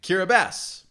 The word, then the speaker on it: Kiribati: this country's name right how to pronounce kiribati ah okay kira bass we're already learning stuff